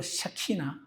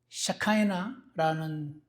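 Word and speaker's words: Shekinah: 그랬더니 여러분, 하나님의 영광을 표현할 때 히브리어로 샤키나, 영어로 샤카이나라는 단어의 발음을 사용하는 샤카이나 글로리.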